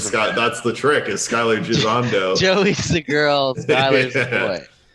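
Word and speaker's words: Skyler Gisondo: Skylar Gisondo.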